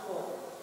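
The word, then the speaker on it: כל: It's never kal, it's kol. This word appears in many Hebrew phrases, prayers, and biblical passages, often with prefixes attached. Sometimes the dot is omitted from the letter kaf, which changes the pronunciation of the letter, but does not affect the pronunciation of the vowel. So whether it's kol or hol, it's always the O sound.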